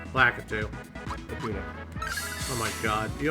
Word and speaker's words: Lakitu: That's right, we're finally getting our revenge on that Lakuta. Lakitu.